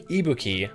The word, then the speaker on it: Ibuki: Also, he pronounced Ibuki. I'm pretty sure it's supposed to be Ibuki. Like emphasis on the on the E, the on the I on the letter I.